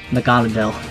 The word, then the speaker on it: Naganadel: Yeah, Naganatel is really good. I love Magneetle. So good. I love him. Let's pronounce it how the anime pronounces it. Naganadel.